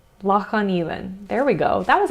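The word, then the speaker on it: Loch an Eilein: It's Loch on Elan. Loch on Elan.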